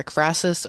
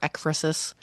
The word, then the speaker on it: ekphrasis: I found two different pronunciations for this, either ekphrasis or ekphrasis.